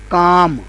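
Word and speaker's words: calm: दूसरा लफज़ है काम। अब यह लफज़ काम है और एल इसमें भी साइलेंट है।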